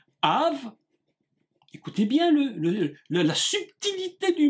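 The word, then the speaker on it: אב: premières consonnes aleph bête que l'on prononce ici dans le cas présent av av écoutez bien la subtilité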